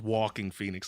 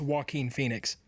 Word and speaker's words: Joaquin Phoenix: But I really thought you said this man's name was Walking Phoenix, like actually walking. And I'm like, I'm about 92% sure it's Joaquin Phoenix.